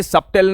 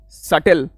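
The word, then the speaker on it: subtle: रिसी depth नहीं डे ए सबटल नहीं सटल ठीक है सबटल नहीं बोलते स्पेलिंग पड़ी है ना ये सबटल नहीं बोलते इट इ सटल और पिज्जा पिज्जा नहीं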